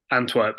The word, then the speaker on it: Antwerp: you know the contrast how do you pronounce is it Antwerp Antwerp yeah yeah um like you know